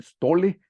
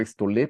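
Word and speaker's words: στολή: es la palabra sté yo la pronuncio como como aparece en el diccionario Generalmente dicen stole pero yo digo estol porque aquí tiene la tilde dice que estas vestiduras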